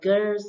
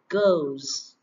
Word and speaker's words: girls: Ok, từ này các bạn hay đọc là girls đúng không nào? Girls. Sai nha các bạn. Các bạn phải phát âm là âm O này, girls.